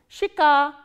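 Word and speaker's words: щека: ye, ka, a, and the stress is on a. So, how will you pronounce this word? Shika, shika. Again we follow the rule of reduction here. This ye sound is pronounced as e, shika.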